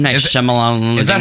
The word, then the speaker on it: Shyamalan: Night Is it- Shyamalan.